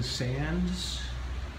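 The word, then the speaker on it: Sandys: great-grandfather were buried Edwin Sands it's about Sandy's the pronounced Sands I guess the Y is silent he was the Archbishop of York who died in 1588.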